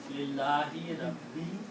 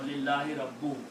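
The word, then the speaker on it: لله رب: What is easy to pronounce? Lillahi Rabbi or Lillahi Rabbu? No. Rabbi is easy to pronounce. Because the sound of kasra or zir comes out from the bottom of the mouth.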